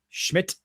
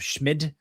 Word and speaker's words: Schmid: We'll get to the Romano Schmid as I have been corrected on my pronunciation of Schmid. The D apparently is pronounced as a T as we were also